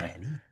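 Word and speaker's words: Champagnie: He just had he's This says Champagny according to Yeah, it is Basketball Champagne. Reference. It is Champagne. Champagny. That's how you say it.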